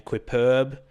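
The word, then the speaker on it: Quippurb: periodically under the name quip perb which people seem to have trouble pronouncing and reading so it's qu I double P u RB clipper beYOU can just think of it like superb quips and it's sketch comedy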